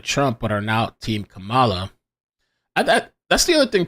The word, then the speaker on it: Kamala: but are now team Kamala that that's the other thing too people are like they're upset about the way people say Kamala it's Kamala or camla I would say Kamala but there's something cama